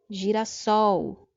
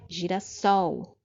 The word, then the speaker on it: girassol: Girassol. Então, perceba que essa última sílaba é a forte, não é? Então, é uma palavra oxítona, né? Girassol.